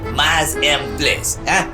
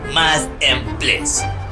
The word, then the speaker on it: mise en place: a party, a little French term for you, mise en place. Hello, I did not see you there. It is pronounced like this, mise en place. Follow the bouncing ball, mise en place.